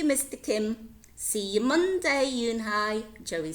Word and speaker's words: Unhei: "Yes, it's pronounced Yoon-Hai, and it means grace," said Mr.